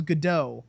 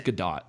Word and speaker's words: Gadot: According to Gal, I always thought it was Godot, but she pronounces it differently. She says Godot, which I don't fucking believe.